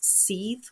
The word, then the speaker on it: Seidr: If you want to read a really good book on the shaking practice, there's Jan Free's Seethe Ways, which is spelt Seidr ways because it's the Norse seethe practice, and that you get this blood flow going.